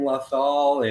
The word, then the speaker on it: Lothal: All your other shows like Radio Razor Crest and Live from Lothal and That's how it's pronounced, yeah.